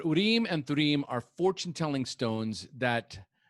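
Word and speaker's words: Urim and Thummim: about urim and turim which i pronounced wrong when we were talking i pronounced it uni man surim but urem and trim are fortune telling stones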